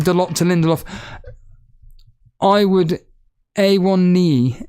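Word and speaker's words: Onana: I would A1 knee. A1 knee is what Max Roberts is saying. That's how you pronounce his name.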